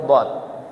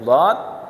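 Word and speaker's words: ض: Oh tahu ini huruf dhad, yaitu caranya bagaimana tuh? Lidah, tepi lidah diputar.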